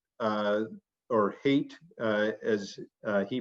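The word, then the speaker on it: Haidt: or an interview that was done with jonathan height uh or hate uh as uh he pronounces it and i guess i should pronounce it that way too but jonathan hate the social psychologist who um for a ted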